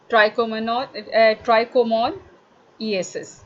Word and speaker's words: trichomoniasis: नाउ these sign and symptom of sexually active female suggest of the organism Trichomonas vaginalis and it causes trichomoniasis, trichomoniasis, इसको हम इस तरह से pronounce करेंगे।